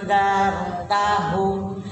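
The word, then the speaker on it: أنذرتهم: Andartahum. IFA itu dibacanya samar dan dengung, ya. Samar dan dengung. Nunnya samar, kemudian didengungkan, ya. Jadi didengungkan, enggak hanya samar saja, tapi didengungkan. Andartahum. Darnya tafhim, ya.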